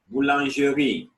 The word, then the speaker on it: boulangerie: Boulangerie, a bakery.